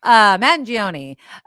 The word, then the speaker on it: Mangione: I keep putting an N in there. It's Magione. Mangione, who had apparently, like we suspected, right?